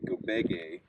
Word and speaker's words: Gobege: received an air air compressor from this company gobege is the way that I'm going to pronounce it g-o-b-e-g-e and we're going to test